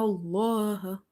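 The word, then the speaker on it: الله: make it heavy, and if there is a kasra before it, you will make it light. So in this case, lam is heavy because there is a fatha before it. Inna Allah, inna Allah, ala, ala.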